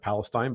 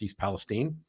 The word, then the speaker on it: East Palestine: did not know that that's how that was pronounced I would have said Palestine but it's East Palestine and it is uh right there on the